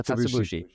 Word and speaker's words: Katsuobushi: Is that how you pronounce it? Yeah, Katsuobushi.